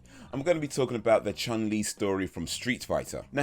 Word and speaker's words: Chun-Li: so here we have little chun li or shin li if you're chinese and no that's not racist that's how it's pronounced anyway she's just a